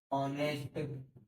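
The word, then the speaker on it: honest: OU होता है ना, जैसे एग्जांपल में देखो, SONEST, SONOUR, तो इसको बोलेंगे दोस्तों ऑनेस्ट, ऑनर और ओवर। यहाँ पर क्या क्या साइलेंट हो गया, एक्स साइलेंट हो गया, एक्स साइलेंट हो गया, एक्स साइलेंट हो गया।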